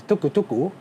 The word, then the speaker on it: tuk-tuk: Yeah, this is in Japanese is pronounced as a tuku tuku, but in Thailand it's like tuk tuk.